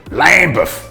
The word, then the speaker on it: Lambeth: In Lambeth, in London, pronounced locally as Lambeth, and raised in Elstree in Hertfordshire, just outside London.